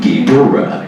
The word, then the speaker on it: Ghidorah: In Destroy All Monsters, they voice over the guy go, King Ghidorah. So that's how I pronounce it now. King You Ghidorah. gotta emphasize that middle syllable.